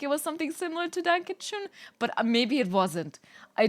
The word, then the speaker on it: Dankeschön: Dankeschön if you want to be correct. I don't even know if I'm saying it right because that O, like with the 2 dots at top, really fucks me up.